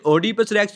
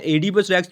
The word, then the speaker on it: Oedipus Rex: यह एडि पस रेक्स इसे ओपस रेक्स भी पढ़ते हैं एपस रेक्स भी पढ़ते हैं जैसे आपको इसके स्पेलिंग अच्छे से याद रह पाए आपने वैसे इसको प्रोनाउंस कर लेना है कोई इशू नहीं बस स्पेलिंग आप अच्छे